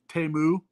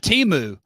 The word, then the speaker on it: Temu: Everybody knows how to pronounce Temu. Okay, yeah, it's not Temu.